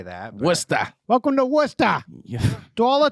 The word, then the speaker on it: Worcester: from worcester massachusetts oh my god did you pronounce it correctly did i yeah a lot of people say warchester warcester yeah i wanted to say that worcester welcome to worcester yeah dollar 25 please and